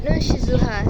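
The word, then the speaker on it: ننشزها: Semisal pada contoh Quran Surat Al-Baqarah ayat 259 pada kata nunshizuha. Nah, di situ ada dua qiraat pembacaan. Yang pertama adalah qiraat Asim dengan membaca nunshizuha, sedangkan qiraat yang lain, qiraat Nafi, ini membacanya nunshiruha.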